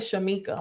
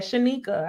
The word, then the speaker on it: Shanika: i had oh and shanika i said your name wrong i said shamika my bad shanika i hate whenever people